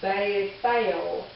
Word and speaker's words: Beth-El: So 1008 in the Hebrew concordance is Beth-El, pronounced Beth-El, from 1004 and 410, meaning house of God.